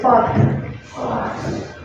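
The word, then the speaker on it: факт: Just don't forget T at the end. F, A, K, T. Let's say fact.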